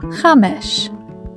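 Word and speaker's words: חמש: The first word on the screen is chamesh. It means 5 in Hebrew. Now you try to say it. Chamesh.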